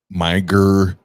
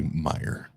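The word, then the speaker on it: Meijer: And they called it like Miger Miger, minor, miser, like all these different ways to pronunciate. And I was like, no, Jenna, it's just simply Meyer. That's it. It's just Meyer.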